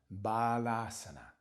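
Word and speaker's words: Bālāsana: Child's pose has two long A's. Bala, bala is child. Balasana.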